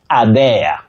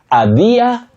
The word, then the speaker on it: adhere: Now, the third one on our screen, dear viewers, many people innocently say adhere or adhere. Please don't use that sound the. Adhere, no. Adhere, no. You simply say adhere, to adhere to something.